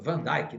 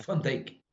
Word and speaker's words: Van Dijk: É um novo Van Dijk? Não é. O pessoal fala Van Dijk, né? Eles falam errado aqui. É Van Dijk, correto. Não, correto é ele é holandês, ele não é inglês.